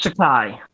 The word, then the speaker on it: Takei: and scene up George Takei yeah well he'll he'll lay India like he does shan'er about that it's pronounced decay but yes you're correct